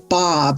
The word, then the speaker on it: Baab: Hello, my name is Baab, it rhymes with Saab cars, lots of people have